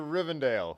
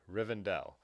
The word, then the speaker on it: Rivendell: that thing on your rivendale rick rivendell sorry rivendell trying to remember large finally told me in person in person that i've been saying it wrong for now since the